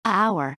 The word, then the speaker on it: hour: say an hour not hour because hour begins with a vowel sound even though H is a consonant similarly we say a